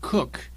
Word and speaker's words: Coke: The next one is Sir Edward Coke, pronounced Cook, spelt Coke.